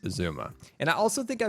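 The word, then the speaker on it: Xisuma: mispronounced uh I think I called him Exuma before that's right I used to call him hey Exuma it's actually just Zuma and I also think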